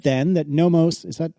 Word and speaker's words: Nomos: Marco said then that Nomos, is that pronounced correctly?